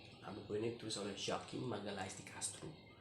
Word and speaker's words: Joaquim Magalhães de Castro: Nah, buku ini ditulis oleh Joaquim Magalhães de Castro. Ingat, Joaquim Magalhães de Castro, bukan bukan Joaquim Magalhães de Castro, beda penyebutannya dengan Spanyol ya, soal pronunciasinya ya.